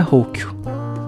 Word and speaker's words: Rocchio: Meu sobrenome se pronuncia Rocchio.